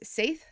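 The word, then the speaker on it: Seiðr: about our experiences with Seidr, and I believe that you've also heard it pronounced as Saith.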